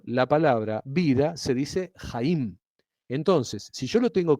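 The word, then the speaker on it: חיים: vida en hebreo es Haim. ¿Sí? Se escribe con het, Haim. En castellano, la palabra vida transliterada sería J-A-I-M. ¿Sí? Eso se pronuncia Jaim.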